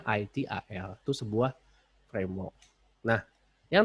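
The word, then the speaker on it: ITIL: Jadi jangan dibaca ETL, jadi bacanya ITAL.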